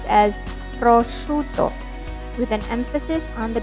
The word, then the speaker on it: prosciutto: typically served in very thin slices don't say prosciutto or prosciutto it should be pronounced as prosciutto with an emphasis on the double tea grudate